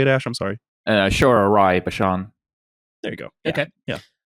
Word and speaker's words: Aishwarya Rai Bachchan: Aishwarya Rai Bachchan.